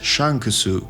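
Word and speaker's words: シャンクス: to his name Shanks in Japanese his name is pronounced as Shan kusu so you can understand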